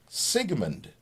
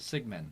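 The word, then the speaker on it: Sigmann: Sigmund. Nope, no D on it. No D. M-A-N-N. Just Sigmund.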